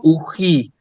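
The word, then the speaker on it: οὐχί: Yo siempre digo uji, el diptongo omicron ypsilon siempre es u, ¿sí? Entonces uji, ¿sí?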